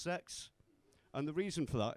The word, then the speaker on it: CEX: And a lot of you might know that CEX is actually pronounced sex.